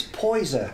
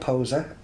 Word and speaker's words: Poyzer: foreign mispronouncing your name so yeah it's poison poison poison i've been called poser and poison uh yeah it's one of those names that uh you know every now and again we pronounce it differently it's actually poison right yeah it's not